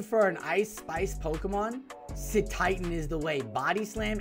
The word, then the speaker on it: Cetitan: Probably you'll see, maybe, I'm not even going to try and pronounce that one ice Pokemon's name. Cetodile? Cetitan. Oh, Cetitan.